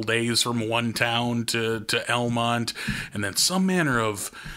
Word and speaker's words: Almont: I think the bell of the ball for street dance celebrations back home was Almont, North Dakota, spelled like almond but with a T, and population no one.